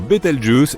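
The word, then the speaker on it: Bételgeuse: Quant à la manière de prononcer correctement Betel je peux le faire comme bon te semble. Tu peux même dire Betel Juice si tu en as envie.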